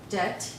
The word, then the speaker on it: debt: write that down here debt okay the b is silent so we just say debt okay and why is